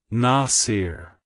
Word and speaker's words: Nasir: supporter it's pronounced as Nasir Nasir Nasir to pronounce it correctly emphasize the first syllable n ah and then